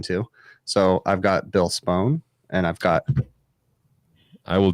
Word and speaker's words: Spohn: know bill spone you pronounce his last name spone thank you don't pronounce it that way he will smack you